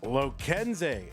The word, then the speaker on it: Lokenze: Loenz is how I'm told it's pronounced.